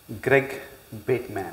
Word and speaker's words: Greg Bateman: way but that's fine but how would you pronounce my name Greg bitman okay very good very the reason I say